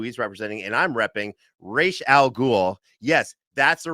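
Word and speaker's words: Ra's al Ghul: to pronounce it not Raz Al ghoul not Rouge no no it's Rachel al Ghul it's a Hebrew pronunciation with an Arabic uh you know naming convention that's how deep I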